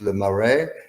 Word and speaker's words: Le Marais: We can add Le Marais, which is pronounced Le Marais.